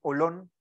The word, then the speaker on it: holón: combinación de un jolón no en inglés es más fácil no pronunciar aquí en español es como un holón no O sea si